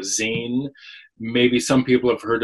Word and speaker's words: zine: it it's its name it's spelled z i n so it kind of looks like Z to some people but it's a Zen maybe some people have